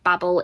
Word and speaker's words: Babel: you want to say both pronunciations work is different depending on where you live babble is the american pronunciation but it works for a joke within the story which is why i automatically say babel i know it should